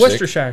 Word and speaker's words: Worcestershire: Yeah, it's not pronounced like it's spelled. No, and I tried. There was a guy that did it like really slow. He's like, say, Worcestershire sauce.